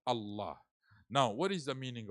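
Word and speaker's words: الله: huh actual you know Allah actual word is alah and because it is difficult for Arab to pronounce alah so they you know they remove the AL if from between and it become Allah now what is the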